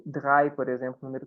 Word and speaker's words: drei: Esse EI, gente, tem som de I em alemão. Então, sempre que tiver uma palavra com EI, a gente vai falar I em vez de EI.